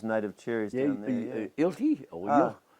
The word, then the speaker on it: Yilti: ilti, or Ah. Yilti, Y-I-L-T-I. Oh, yeah. Ilti, they pronounce it.